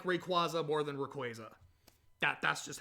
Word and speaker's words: Rayquaza: I don't care that it's not the canon pronunciation. I like Rayquaza more than Rayquaza.